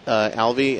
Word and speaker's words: Alvey: Alvey am I pronouncing your name properly that is correct all